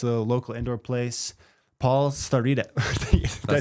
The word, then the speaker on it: Starita: It's a local indoor place, Paul Starita. Did I say it right? That's pretty close. Yeah. No. You said it more like an Italian would. Starita. Yeah. Starita.